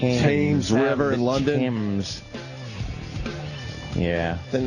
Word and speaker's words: Thames: Thames. Yeah. Then how about we get rid of the H if it's Thames? Thames. The Thames. No, it's Thames.